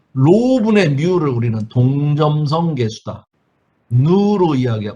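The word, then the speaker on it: ν: 누로 누로 씁니다. 누라고 읽습니다. 누.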